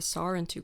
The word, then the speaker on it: Sarentu: from the Sarentu clan, and the stress syllable is on the sa at the beginning of the word. So sar, and then it also has a tapped r, so Sarentu, and it like pulls in kind of.